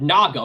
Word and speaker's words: Naga: and that's because Nia is derived from another word Naga with a hard G and the Naga were